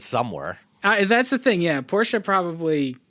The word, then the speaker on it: Porsche: Sam talked with Henrik Fisker, and we're going to talk about the Fisker SUV, the Porsche Taycan. No, Taycan's the thing you buy in the store. Taycan. It's only two syllables, Dan.